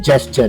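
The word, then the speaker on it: gesture: लिखा हुआ है तो ये जो जी है यहां पर इसका उच्चारण कई लोग ग कर देते हैं जबकि यहां पे इसका उच्चारण क्या होगा ज तो इसको हम क्या बोलेंगे जेस्चर तो यहां पे ग कोई मत बोलना येय यहां पे इसका उच्चारण है ज है तो जेस्चर जेस्चर फॉर the students to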